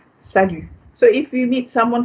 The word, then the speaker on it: salut: you can also say salut, salut, salut. The T is silent.